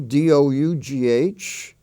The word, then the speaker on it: dough: the exceptions in that spelling family is do d-o-u-g-h and though t-h-o-u-g-h spelled with o-u-g-h dough in other words in the